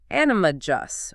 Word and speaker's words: animagus: The G sound. You got it. Apparently, this creator, and others I'm sure, they say it with a soft G, like animagus, or metamorph magus.